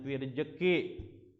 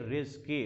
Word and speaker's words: rizki: Bacanya jangan firjeki. Ini mentang-mentang Betawi firjeki. Fir rizki wa taubatan qabla al-maut wa rahmatan indal maut wa maghfiratan ba'dal maut.